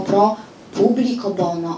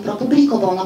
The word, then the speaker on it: Pro publico bono: polegają łacińskie zwroty i tam było Pro publico Bono a ja powiedziałam Pro publico Bono ponieważ takie akcentowanie jest częstsze No i oczywiście tacy nadgorliwy mi zwracają uwagę na to że skoro wytłumaczyła że a propos akcentujemy na ostatniej sylabie To dlaczego nie wytłumaczyła że mówimy Pro publ Bono Kto z państwa jest